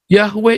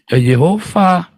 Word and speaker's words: Yahweh: penyebutnya si Yakub ini Yahweh ini dari dialek Yunani saudara dan keselamatan bukan dari bangsa Yunani juga ya kan jadi yang bener ini bacanya apa yahoofah bukan yahwe ya ini saja diajarkan masih